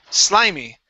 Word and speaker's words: slimy: All right, now this last word here, this is going to be a long I sound. So instead of slimy, it is sly, slimy. Slimy. Okay, all right. Instead of saying eh, slimy, take off that eh.